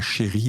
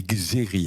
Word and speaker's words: Chéri: nom, parce qu'il paraît qu'on s'appelle non pas Chéri, mais Xéri avec un X. Et comme le X se prononce CH, donc c'est devenu Chéri, et je préfère effectivement qu'on dise Chéri que Xéri.